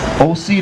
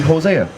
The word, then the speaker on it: Hosea: okay we're talking history OC the king is this is more modern Greek the the ancient pronunciation would be Hosea right Hosea was the